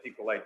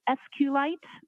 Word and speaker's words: SQLite: as far as a sqlite database uh how is that spelled it is Capital SQL lower cave i t and sqlite uh is also commonly pronounced as SQL so both pronunciations are acceptable now once you received